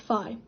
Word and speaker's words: phi: Earth is Euler's torsion the sign here is pronounced Phi if N is a positive integer Phi n